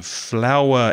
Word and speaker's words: flour: it's the same pronunciation flower in the garden f-l-o-w-e-r and flower to make bread arena f-l-o-u-r is exactly the same pronunciation in the south of